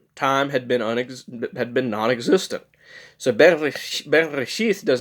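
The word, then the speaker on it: בראשית: One example is Bereshith, and yes, it is pronounced Bereshith, not Bereshit. A lot of people think it's Bereshit. It's not Bereshit, it's Bereshith.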